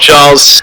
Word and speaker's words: Giles: Hats off, Giles. Yes. Yep. Yes. Hi, no one is believing me that Giles is pronounced with a soft G.